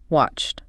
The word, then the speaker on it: watched: Past form, watched. And remember that sound at the end, watched. Because a C is voiceless.